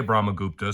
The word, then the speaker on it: Brahmagupta: All right, I'm not going to explain Brahmaguptas, but I will say Brahmagupta so that you know how to say it.